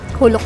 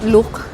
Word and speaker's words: Geluk: Huluk pala yung pronounce niya eh no? Kala ko nung una look or geluk. So yun sabi ng mga staff yun daw yung pronounce huluk kasi Dutch na salita siya.